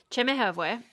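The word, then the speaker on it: Chemehuevi: Chimichhueve. That is how she pronounced it, yeah.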